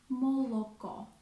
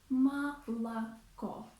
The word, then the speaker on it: молоко: For example, we do not say молоко. It's wrong. A Russian native speaker would say молоко, молоко.